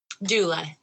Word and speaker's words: doula: I don't know if I'm going to pronounce it right. Doula? Doula.